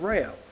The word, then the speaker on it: Rayo: So I asked him again to say his name, and he said Rayo. With a puzzled look, I say, Rayo? And he says, like the batteries, Rayovac.